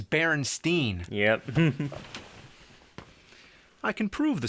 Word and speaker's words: Berenstain: not an a actually the most likely pronunciation would be baron Stein since it was spelled the same way like Frankenstein but everybody I ever met says Berenstein yeah I can prove